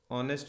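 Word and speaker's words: honest: इसी प्रकार से एच से शुरू होने वाले शब्द जो साइलेंट हो जाते हैं, जैसे एयर, एन एयर, ऑनेस्ट मैन, ऑन एन ऑनेस्ट मैन, N honourable leader. हालांकि शुरू एच से हो रहा है, व्यंजन अक्षर है, लेटर जो है वो कॉन्सोनेंट है, लेकिन इसकी साइलेंट होने की वजह से ये एक स्वर की ध्वनि से शुरू होता है।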